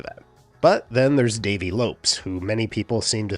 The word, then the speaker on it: Lopes: couple years ago, and a commenter got all pedantic about how it should be pronounced Lopez. They were just out there in the comments section like this. Lopez! Lopez! But Davey has talked about this and said that his family has always been Lopes and never Lopez. And apparently the name's Portuguese, and that's actually how it's pronounced more or less in Portuguese.